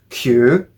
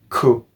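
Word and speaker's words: 九: You have your onyomi, which is kyu, and you have your kunyomi, which is ku. Ku is too similar to the, well, actually, scratch that. Ku is identical in pronunciation to the kanji or Chinese character for suffering, kurushimi.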